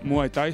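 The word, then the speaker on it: Muay Thai: už poveda samotný názov ktorý v tajine vlastne eh sa vyslovuje ako muaj Taj eh toto bojové umenie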